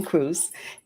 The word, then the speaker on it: Cruz: your last name wrong it rhymes with juice I love it Amy Cruz and Amy uh works